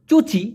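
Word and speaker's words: cuci: বলা হয় চুচি ক্রেতা সি ইউ সি আই যেহেতু সি উচ্চারণ হয় চ এর মত এজন্য চুচি ক্রেতা অথবা বাচু ক্রেতা অথবা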